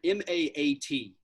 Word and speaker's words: Ma'at: just put out there and it's the word m-a-a-t and it's it's pronounced ma'at and uh it the the concept